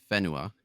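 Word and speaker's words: Whenua: um Wenua or in Ma uh Fenua because they pronounce the wh as a as an F sound.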